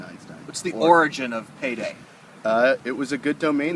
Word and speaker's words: PaeDae: We have Rob Emrich with us today from a startup down here in Silicon Beach called PaeDae. Now, it's not PaeDaY, it's not payday loans.